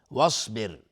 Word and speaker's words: واصبر: واصبر، صاد از حروف استعلاء غلیظ تلفظ میشه. واصبر و را ساکن قبلش کسره اومده، حکمش ترقیق است.